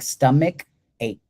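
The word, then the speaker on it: stomachache: I know that word looks like sto a but it sounds like stomach ache.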